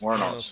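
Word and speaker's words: Wuornos: pronounce it. Warnos. Warnos.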